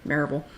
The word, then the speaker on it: Maryville: It's spelled Maryville, but we pronounce it Maryville.